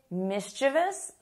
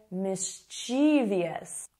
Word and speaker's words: mischievous: Some people say mischievous, other people say mischievous.